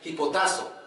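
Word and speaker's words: ὑποτάσσω: del derivado del griego si se pronuncia y potazo sí que quiere decir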